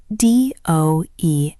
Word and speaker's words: does: It is spelled D-O-E-S, but we pronounce it does.